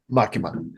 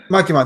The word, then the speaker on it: Makima: to find out about uh masaki no miyazakas makima makima thank you so this is episode eight that you haven't pronounced her name right once all right